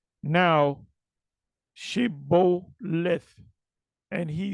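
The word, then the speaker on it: שבולת: Then said they unto him, say now, Shibboleth. And he said, Sibboleth, for he could not frame to pronounce it right.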